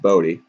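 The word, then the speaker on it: Bote: not b-o-a-2-i it's b-o-t-e it's spelled boat but it's pronounced bodhi were you like joking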